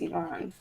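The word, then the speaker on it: Iván: Ivan IV I mean it is Ivan but he's Colombian so it's pronounced Ivan he's he UST sh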